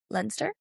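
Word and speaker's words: Leinster: So that was in it was Bordeaux versus Lensster. Am I pronouncing correct?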